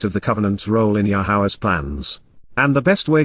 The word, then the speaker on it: Yahowah: so and in addition yahwah yahwah the proper pronunciation of yahwah oura God has directed in his Torah teaching